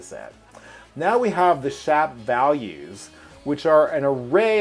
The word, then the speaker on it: SHAP: an example of a shop summary i actually don't even know if i'm pronouncing it correctly it may be shape because it's shapely so maybe i should be saying shape i don't know if